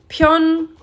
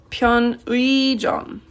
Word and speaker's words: 편의점: 편의점 is how it is pronounced, even though it's written as 편의점, right? But you say 편의점.